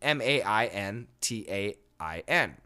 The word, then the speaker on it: maintain: we don't say maintain we say maintain maintain maintain keep the T sound but the noun version